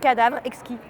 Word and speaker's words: Cadavre Exquis: Cadavre Exquis. Cadavre Exquis?